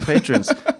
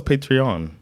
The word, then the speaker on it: Patreon: money yeah cuz you're patrons I like that we call them Patron that's it's how it's spelled so I don't know no it's patreon yeah but patreon but they are p